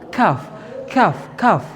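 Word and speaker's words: ك: Yang kedua itu sedikit sedikit di atas di atas pangkal. Nah, sedikit di atas pangkal. hurufnya adalah kaf. Ah, jadi ngomongnya teman-teman qf. Qf harus harus dirasain di di pangkal lidah kalian tuh qf. Qf sama di atas pangkal lidah sedikit. Di atas pangkal itu hurufnya adalah kaf. Kaf kaf kaf gitu ya. Jadi juga bukan kaf gitu.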